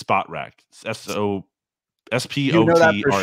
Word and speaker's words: Spotrac: People always get that wrong, or they think it's like SportRack, you know, cause that's to do with sports, but it's not, it's SpotRack.